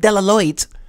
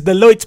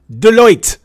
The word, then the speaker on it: Deloitte: at his job at de la lloyd's what is that scott now we know for a fact you're not a fighters guy it is deloitte my friend deloitte say it right this is hilarious okay